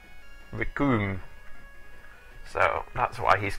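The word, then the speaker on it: Recoome: to note's name is the Japanese pronunciation of cream ricoom so that's why he's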